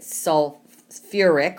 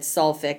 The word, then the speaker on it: sulfuric: So that ends in ate, and so that's where I get sulfuric, or if you said sulfic, I would understand that till you learn how to pronounce it.